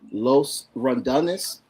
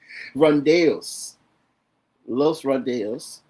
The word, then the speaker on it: Los Randos: Um, we have uh Raymond and Hugo from Los Randis. Am I saying it correctly? Randos. Los Randos.